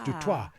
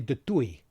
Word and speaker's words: Du Toit: So the correct pronunciation, it's French. See? So it's Du Toit. But the Afrikaners say De Toit. Okay. And the English-speaking people say Du Toit.